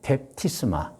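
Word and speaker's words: βάπτισμα: 펩티스마. 예. 신약 성경에서 이어진에에 그 성경의 원어 헬라어로 그 발음의 펩티스마입니다.이 펩티스마는 그 뜻이 무엇이냐?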